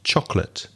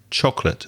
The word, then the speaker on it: chocolate: the pronunciation of chocolate it only has two syllables and you pronounced it with three so it's chocolate chocolate stress the first syllable chocolate and another thing to